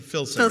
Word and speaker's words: Filsinger: But I said it right this time, Filsinger. Filsinger, That's how you yes, say it.